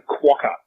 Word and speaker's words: quokka: recent episode all right it's a quaca so you're going to need to get that right all right remember quer